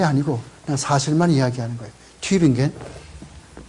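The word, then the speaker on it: Tübingen: 튜빙겐. 이 독일 사람들은요, 이렇게 점을 찍어, 두 점을 찍어요. 두 점을 찍으면은 우 그러지 않고 위 이렇게 발음을 한다고. 그래서 튜빙겐 이렇게 해서 이게 영어에는 이런 게 없잖아.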